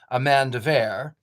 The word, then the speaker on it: Amanda Vore: His wife, Queen Amanda Vore, pronounced Amanda Vere, was renowned for her wisdom and unparalleled beauty.